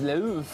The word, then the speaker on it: l'œuf: The French word for egg is l'œuf. Oh. The pronunciation isn't too far from the English word love.